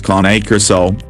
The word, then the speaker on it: Cane Corso: Caucasian Ovcharka, and a Cane Corso, phonetically pronounced as KAH-NAY KOR-SO, we have compiled all the detailed information you need to know to help you make the best choice.